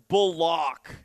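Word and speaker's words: Bullock: So, Kalin Bulock is how you say his last name.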